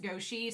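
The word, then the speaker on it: 国师: In the novel, it's pronounced Goshi.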